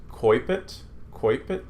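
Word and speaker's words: coepit: The we in English would say oe, is pronounced like oi, as in oil. So this is coipet.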